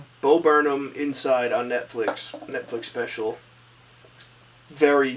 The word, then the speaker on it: Bo Burnham: Bo Burnham. Bo Burnham Inside on Netflix special.